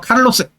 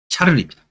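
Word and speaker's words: Carolus: 그래서 이 카를로스란 말이 이제 스페인 쪽 발음이고요. 스페인 쪽 발음이고요. 자, 카를로스 뭡니까? 그래서 뭡니까? 독일어로 칼이에요. 칼. 독일어로. 독일에서는 칼이라고 부르고요. 그다음 뭡니까? 프랑스. 예전에 세계사 교과서는 프랑스식으로 발음한 거야. 샤를입니다. 보통 샤를 마뉴라고 하죠. 마뉴가 매그너스입니다. 매그너스. 존칭의 표현입니다. 그래서 매그너스가 마뉴고요. 그다음 뭡니까? 그다음에 스페인이 발음이 카를로스인데요. 요즘 뭡니까? 카를로스. 스페인식 발음을 많이 씁니다.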